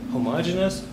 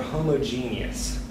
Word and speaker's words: homogeneous: first of all and it depends on where you're from whether you pronounce this as homogeneous or homogeneous it's either homogeneous or